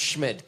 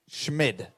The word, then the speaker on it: Schmid: So did they forget the T on the webcast, or is his name Tyler Schmid? It's pronounced Schmid, correct. Schmid. Yeah. Say it again. Schmid.